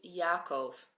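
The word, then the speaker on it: יעקב: Brian is mentioning Jacob so Jacob in Hebrew is actually Yakov it's not the same name it doesn't sound the same but I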